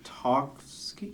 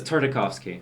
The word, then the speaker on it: Tartakovsky: Tartovsky. It is Tartovsky. No, okay. It's not Tarkovsky, but No, it's it's not Tartovsky. It's Tartakovsky.